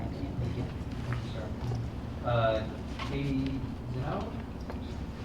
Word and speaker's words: Zinno: Katie Zeno? I might have gotten your name wrong, sorry. No, you got it right. Okay, good. And then Lori Duckworth? My name's Katie Zinno.